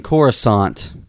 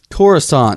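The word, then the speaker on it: Coruscant: doing chorus I mean corusant corusant corant corusant the C is silent which is the when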